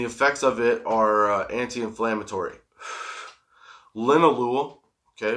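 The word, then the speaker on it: linalool: Linolu. Okay, which I've been pronouncing wrong for so long. Lol. It's linolu.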